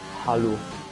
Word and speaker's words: Hallo: How do you say hello in German? Hallo. What, hello? It's basically hello with an A, so Oh.